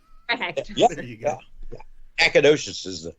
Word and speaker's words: Nacogdoches: Did I pronounce that correctly? Nacogdoches.